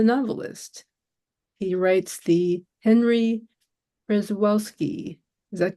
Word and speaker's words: Przewalski: So it's pronounced in the Russian sense, Przewalski.